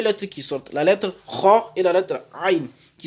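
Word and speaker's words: خ: Donc, il faut faire attention à les prononcer avec la gorge pour avoir la bonne prononciation. Donc, la lettre kha et la lettre ghain.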